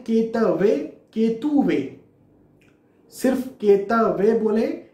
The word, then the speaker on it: केतुवे: फिर से मैं दोहरा देता हूं, ओम केम केतुवे नमः, ये सही प्रोनाउंसिएशन है। कई जगह पर आपको केतवे देखने को मिलेगा, उसे फॉलो ना करें।